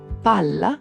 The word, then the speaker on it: palla: Doppie consonanti. È una cosa seria. Palla non è pala. Nonno non è nono. In italiano , le consonanti doppie cambiano radicalmente il significato delle parole.